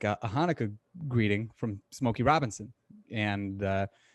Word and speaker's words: Hanukkah: And but he pronounced it Chinooka. And I thought that was so funny. Like I'm not hating on Smokey Robinson. I don't blame him for pronouncing it like that. What they should have done, they should have provided like a pronunciation for it, and they didn't. So it's like if you're not familiar with it, why wouldn't you? Like a CH, like it just looks like it would be Chinooka.